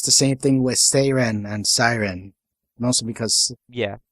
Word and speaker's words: Seiren: Actually, what it is the Greek word for the mythical creature is spelled and pronounced Seiren. Seiren. But in English, it got changed to Siren. So if the character is named after the Greek word for it, then Seiren is technically correct.